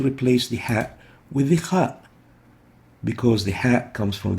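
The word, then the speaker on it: خاء: Kha looks like this, and it has no English equivalent, but it is similar to the German Bach, or the Russian Rachmaninoff, or the Scottish English Loch. It's pronounced as ugh, similar to the sound you make when preparing to spit.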